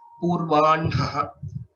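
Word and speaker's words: पूर्वाह्णः: Purvanha. N is pronounced first and then Hakara. This is the traditional practice.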